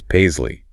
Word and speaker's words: paisley: That's paisley. Long a z sound for the s. Long e. Paisley.